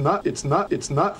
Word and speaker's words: not: It's not funny.